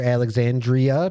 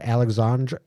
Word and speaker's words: Alexandra: He definitely one time pronounces the cat's name wrong. He calls her Alexandria Peabody instead of Alexandra Peabody, son of Poo Poo and Kite.